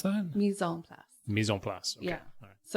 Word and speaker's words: mise en place: And you need to have your mise en place, which is like all your top stuff ready to go for your pan. Sorry, how do you pronounce that? Mise en place.